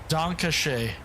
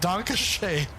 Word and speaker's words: Dankeschön: I once told him Dankeschön. The kids call it a Dankeschön to this day. over the last 2 years. Every morning, multivitamin. But they don't really pronounce it right. But they're like Donkashay. Donkashay, baby.